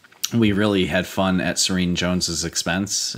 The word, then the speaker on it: Serene Jones: really had fun at serene Jones's expense I think her name rhymes with mean Jones oh I said rhymes